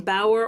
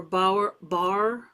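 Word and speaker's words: Bauer: it's a John and I don't know if if you say his name Bower or bow bar b a u e r I think it's Bower he's an artist that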